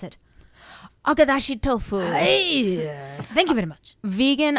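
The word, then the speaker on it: agedashi tofu: And now, once again, it's time for Maureen Flanagan and the Vegan Teas, a fabulous recipe today, even though I can't pronounce it. Agadashi tofu.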